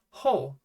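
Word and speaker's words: ホ: And the last katakana in the hagyo is ho. It looks like a cross wearing a cape to me. That's probably not helpful in any way at all, but yeah. Ho.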